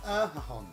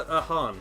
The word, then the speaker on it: Erhahon: It's Ethan Erhahon. Would you go for that? Erhahon? I'm going to go for Erhan. Erhan. Because if you look at how McMahon is spelled.